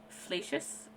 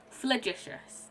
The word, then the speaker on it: flagitious: Fallacious? I'm gonna look it up. Flagitious. That's how you pronounce it.